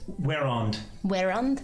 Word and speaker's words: Werond: Werond. Werand to. How does one spell that?